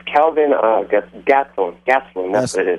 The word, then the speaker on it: Gastelum: I can't pronounce it. Kelvin Gastelum. Yeah, it's Kelvin Gastelum.